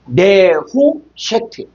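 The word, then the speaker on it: נְחֹשֶׁת: 자, 5178번은 네호셰트인데 요거는 느세트라고 했어요. 정확하게 발음하면 요게 네후쉐트.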